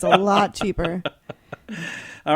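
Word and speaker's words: Elle: Hey, according to L magazine, am I saying it right or is it Ellie? E L L E L L. Okay, I thought so.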